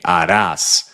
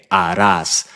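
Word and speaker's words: harás: be a must right Aras we're never pronouncing the H remember H is always silent Aras and yeah uh this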